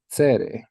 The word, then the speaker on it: tsere: If we have two dots underneath the consonant, this is what's called tsere, or tsere yod, tsere malay. And it's pronounced A as in day.